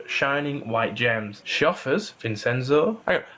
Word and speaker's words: Vinchenzo: She offers Vincenzo. How do you pronounce his name? Vincenzo.